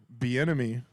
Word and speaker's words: Bieniemy: What is Say you did crazy is that, but Bieniemy, is that how you say it? Is it? Did I say The it right? enemy. Yeah. it. Be in it.